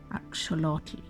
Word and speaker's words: axolotl: He ran away and disguised himself as a maize plant, an agave, and finally what we call in the West an axolotl, but what we now know is pronounced axolotl.